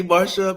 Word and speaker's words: Marcia: mistress um and um Marsha Marsha Marsha why does she spell her name Marcia yeah Marcia m-a-r-s-h-a and so right people see that c and they think it's a hard C but sometimes I do